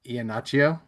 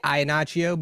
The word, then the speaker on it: Iannaccio: Iannaccio? Yeah, I'll give you that one. I'll give you that Okay. one. Tell me again how it's pronounced. No, it's pretty much perfect. I would say Iannaccio, but then Iannaccio.